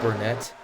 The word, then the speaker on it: Burnett: your bottom 20 include ibrahamian Wells Jenkins and Burnett who runs side by side apparently it's pronounced brunette I'm saying it